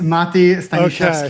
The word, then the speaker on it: Mati: It's Mati.